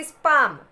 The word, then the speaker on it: palm: Next is palm. PALM. palm. When we are pronunciating the word palm, L will be silent here.